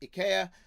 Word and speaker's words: IKEA: The second thing I wanted to talk about today was IKEA, which I know is really pronounced IKEA, but is easier to draw using the incorrect pronunciation.